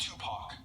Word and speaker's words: Tupac: philosophy chose me okay there to back it's pronounced Tupac if you want a pizza both of you